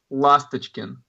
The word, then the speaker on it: Lastochkin: Lastochkin. Did I say it right? Yeah. Close enough. Well, okay. Let's set the record straight from the man himself, everybody. Lastochkin.